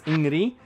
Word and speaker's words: Ingrid: Up next at number 9, we have the character that everyone gives me flack for pronouncing her name correctly. It's Ingrid.